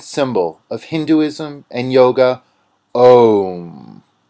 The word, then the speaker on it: Om: The pronunciation of Om is a process that leads you through the whole vocal tract. You begin in the throat with Ah, then transition to the mouth with O, then move towards the front of